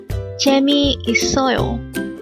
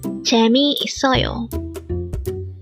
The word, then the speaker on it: 재미있어요: number 308 J so this is pronounced as a five syllable word the first syllable is